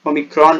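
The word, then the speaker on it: omicron: ओमिक्रॉन, ओमिक्रॉन वगैरह, पहले मैं भी इसे गलत प्रोनाउंस करता था, अब मैं सही करने लग गया हूँ. ओमिक्रॉन बोलते हैं उसको.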